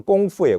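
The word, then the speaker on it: 工夫: 원래는 이게 중국어로 꽁푸예요. 꽁푸. 꽁푸라고 하는 게 뭐냐면 지금 그 발음 표기를 하면 꽁푸를 K로 표기를 해서 쿵우라고 하는 말이 공부예요. 공. 우리가 쿵우라고 알고 있죠.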